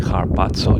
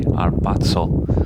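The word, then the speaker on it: ἁρπάζω: said to me that harpazo in Greek is actually pronounced without the H, so instead of saying harpazo, you gotta say arpazo without the H.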